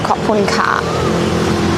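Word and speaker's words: ขอบคุณค่ะ: in Thai when you say thank you, it's pronounced Khopun Ka.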